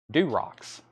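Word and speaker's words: Durocs: D-U-R-O-C-K or excuse me, let me spell that again. D-U-R-O-C-S. Durox.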